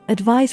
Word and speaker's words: advise: encourage instruct preach urge when spoken advice rhymes with realize be careful don't use